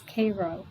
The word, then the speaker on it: Cairo: command post at cairo pronounced then and now as cairo oops nobody including me